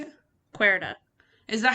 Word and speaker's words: Querida: Because I thought it started with a K first, but it actually starts with a Q, because kind of depending on how you say it, it does sound like when you're saying a Q, it's a K. Yeah. Etc. So it's a little confusing. Because in Spanish, the QUE is K.